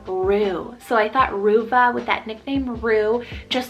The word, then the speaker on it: Ruva: So this is the name Ruva, spelled R-U-V-A, Ruva.